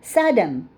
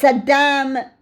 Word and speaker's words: Saddam: um oh Saddam Hussein they would call him Saddam Hussein when it's Saddam well they don't want to